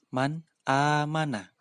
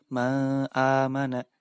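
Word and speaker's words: مَنْ آمَنَ: Cara membacanya harus dibaca jelas. Man amana. Tidak boleh dibaca ma amana, tidak boleh.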